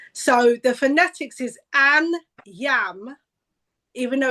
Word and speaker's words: Anyiam: So the phonetics is an yam even though it's spelled anam. Yeah. So that's trick. Any oyam an yam o.